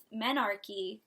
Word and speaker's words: menarche: that up is because the word Anarchy rhymes with menarchy monarchy is the first